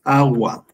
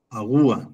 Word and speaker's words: agua: Ahora vamos con la siguiente que es agua. A agua. A ver, vamos a ver cuál es la sílaba tónica. Vamos a darle fuerza a la agua. Sí, se escucha bien.